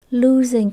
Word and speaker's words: losing: end up losing Everything losing có nghĩa là mất thua hoặc là bại trong từ losing này các bạn nhớ chữ s mình đọc là âm J nhé ling losing rết rồi bạn mất hết